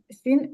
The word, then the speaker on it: sign: Sign a contract. No, we don't Say. sing.